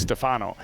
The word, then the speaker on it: Stefano: coach kelly told me the easy way to remember how to pronounce the first name is that he goes by fano so he's stefano lifted out to left